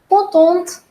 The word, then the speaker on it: contente: And the second one, here I've added an E. So T is not the last letter now. So therefore, we'll pronounce that and the pronunciation becomes je suis contente. Je suis contente. So if you listen well, I am pronouncing the last T.